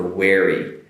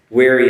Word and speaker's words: weary: And the only difference is the V for very and the W for wary. So on the W, the pronunciation for this, now hopefully you watch the problem words with walk, work, want, and won't. Wary is also a W beginning.